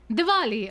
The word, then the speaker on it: Diwali: Diwali? Diwali, oh Diwali, yes, the with a state V?